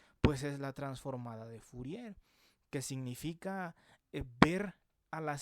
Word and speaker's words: Fourier: Fourier se suele pronunciar Fourier porque era un científico francés, ¿no?